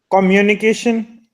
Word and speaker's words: communication: to pronounce it so what is the right pronunciation of this word is communication the stress over the M right communication communication uni part okay so uni exactly communication